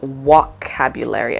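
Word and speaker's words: Wokabulary: there it is so instead of vocabulary it's called walk cabulary like it actually has a walk this was such a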